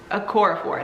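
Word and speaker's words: Okorafor: found Ben T by I don't know how you say her name Nettie a core a core of War that's how you say it uh for only three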